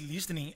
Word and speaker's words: listening: E a importância desse listening é tão listening, grande. Listening. Listening. Very good. Esse T é mudo.